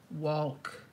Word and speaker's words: walk: life completely so but walk pronounce the L walk like Salman there's a kitty hi